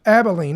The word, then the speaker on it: Abilene: with the massive build-out in What is that Abilene? How do you say that? Abilene, okay.